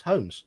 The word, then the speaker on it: Holmes: In the surname Holmes, for us the L is silent.